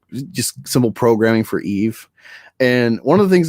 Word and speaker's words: EVE: No, it's Eve. It's just like how she says, she's like Eve, and then like Walle can't say it right, so like Eva.